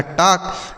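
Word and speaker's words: talk: तो अगर एल के साथ के लिखा रहता है तो बच्चों एल साइलेंट होता है। क्या होता है? साइलेंट होता है। हम उसको नहीं पढ़ते हैं।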